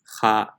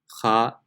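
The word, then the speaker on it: خ: So if you were to say empty mouth, just to hear the difference, empty mouth will be pronounced kha, kha, but full mouth is kha.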